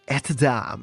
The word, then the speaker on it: Etats: Know Your Artist, and they told me how to pronounce the name. Now I know how to say it. It's Etats.